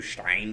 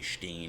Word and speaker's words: Stein: into our brand new Stein Stein I guess it would be Steen if you were pronouncing it correctly all right Pro do